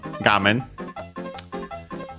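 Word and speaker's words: 画面: have the uh term gam. Uh we have seen it actually before maybe also in this series I'm forgetting. Uh it's a Chinese compound but one accent on the first syllable.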